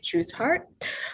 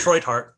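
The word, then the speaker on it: Treuthardt: special guest dr truthhart um doctor please correct me if i'm saying your last name wrong too by the way i'm so sorry it's troy heart but that's fine join heart yeah my apologies um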